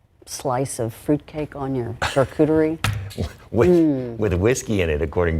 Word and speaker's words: charcuterie: wine and charcuterie.